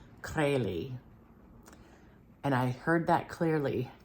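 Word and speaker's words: Krejlee: and then I said how do you pronounce this and he said crazy so there's like a bit of a roll to the r crazy and I heard that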